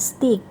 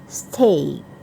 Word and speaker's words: steak: Ini biasanya sebagian orang membacanya stick, tapi dia seharusnya steak, daging panggang.